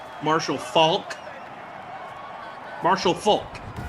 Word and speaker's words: Faulk: say his name marshall falk marshall marshall falk marshall falk you do pronounce the l i'm like i'm legitimately